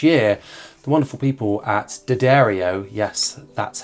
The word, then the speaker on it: D'Addario: And in my quest to have a puny pedal board for every gig this year, the wonderful people at Dibble, yes, that's how it's pronounced, have provided me with one of their new pedal boards for me to use.